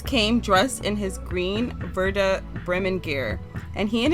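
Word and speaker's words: Werder: dedicated to Verda yeah it's Verda Verda bman he was a verman fan sorry you guys for the pronunciation it's hard for me to say these words and it's crazy cuz look it's spelled with a W but that's not how it's pronounced he also loved to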